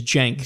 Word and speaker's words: Cenk: say that right Shanker jank his name is jank Jake yeah it's pronounced Jake yeah okay so he is he